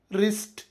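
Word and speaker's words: wrist: ಡಬ್ಲ್ಯೂ ನಿಯಮ ಪದದ ಆರಂಭದಲ್ಲಿ ಆರ್ ಅಕ್ಷರದ ಮುಂಚೆ ಡಬ್ಲ್ಯೂ ಬಂದರೆ ಡಬ್ಲ್ಯೂ ಸೈಲೆಂಟ್ ಆಗಿರುತ್ತದೆ ಉದಾಹರಣೆಗೆ ರೈಟ್ ರಾಂಗ್ ರಿಸ್ಟ್ ಡಬ್ಲ್ಯೂ ನಿಂದ ಸ್ಟಾರ್ಟ್ ಆದ್ರೂ ಉಚ್ಚಾರ ಮಾತ್ರ ಆರ್ ನಿಂದ ಆರಂಭವಾಗಿದೆ ನಿಮಗೆ ನನ್ನ ರಿಸರ್ಚ್ ಮತ್ತು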